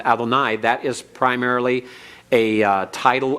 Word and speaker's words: Adonai: the Lord God now normally one's pronounced this way and pointed with the Comets at the end Adonai that is primarily a